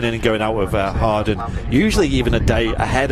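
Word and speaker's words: Hawarden: Harden, you pronounce it, yeah.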